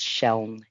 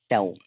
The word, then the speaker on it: Sheln: So I'm accustomed to saying it's pronounced Sheln. It's like saying shell with an N on the end, Sheln.